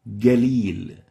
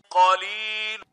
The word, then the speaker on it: قليل: It will be galil, and this is wrong. The right way of pronouncing the qaf here is like this. قليل. Qalil. So you have to make sure not to replace the qaf with the ig, English G.